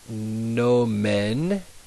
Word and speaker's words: nomen: And then the second word, nomen, the E is in bed, nomen, est, and then this is where people always get thrown off. They want to say mihi nomen est Antonia, but remember